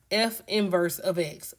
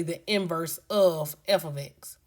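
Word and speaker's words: f⁻¹(x): And we pronounce this as f inverse of x or you can say the inverse of f ofx.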